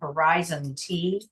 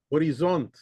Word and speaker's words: Horizont: Don't ask me how you pronounce it. Horizon T. What? What? Sorry. Horizont.